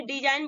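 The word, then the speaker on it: design: आपका जी आया है तो जी को हम साइलेंट करेंगे और इसको हम क्या बोलेंगे डिजाइन बोलेंगे उसके बाद नेक्स्ट लेते हैं पर एग्जांपल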